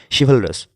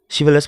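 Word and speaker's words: chivalrous: শিভালরাস, শিভালরাস মানে কি পরোপকারী। তো কীভাবে মনে রাখবো, দেখো শিভালরাস এখানে সিএইচ এর উচ্চারণ কিন্তু শি হবে, শিভালরাস, রাজ রাস উচ্চারণ করবো, তো শিভালরাস হলো।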